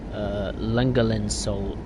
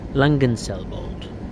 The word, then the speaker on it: Langenselbold: Well, I think the next station is the one we're meant to stop at, which is Langenselbold. Bold. I'm terrible with these names, I'm sorry. Langenselbold.